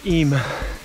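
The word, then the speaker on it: Eyam: our route was uphill just leaving ema apparently that's how you pronounce it hope i've done it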